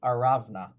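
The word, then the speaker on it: ארונה: word for that, I know the English doesn't, it's spelled differently, is Aravna.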